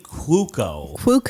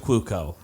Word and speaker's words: Cuoco: the big stars of that show is Kaley Cuoco. Cuoco. I don't know why it's pronounced like that.